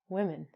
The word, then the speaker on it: women: So, when you look at this word, it looks like woman, but it's actually women, woman.